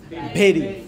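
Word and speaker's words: bury: Cucumber means खीरा, बेरी means काटना, हाँ, दफनाना, that is बी यू आर वाई। The right pronunciation is बेरी।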